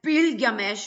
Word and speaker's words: Bilgamesh: Gilgamesh uh originally pronounced as bilgamesh.